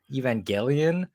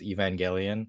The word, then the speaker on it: Evangelion: I know it get gets pronounced both ways in the Japanese the way it's written it's Evangelion so that I feel like that's just how it should be said but you know and